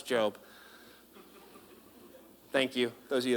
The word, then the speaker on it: Job: All right, it's spelled Job, but it's Job.